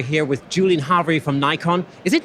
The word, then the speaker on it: Nikon: It's actually either, confusingly. In the US, our US team definitely say Nikon, but in Europe, and in fact in Japan, where I believe the correct pronunciation must be more readily felt, it's Nikon. It's Nikon.